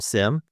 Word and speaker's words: SIEM: this is simplifying your cmmc journey or simplifying it depending on how you pronounce the acronym Sim s system information and